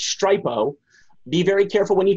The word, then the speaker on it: Stripo: If you use a site called, it's pronounced Stripo, be very careful when you type this in.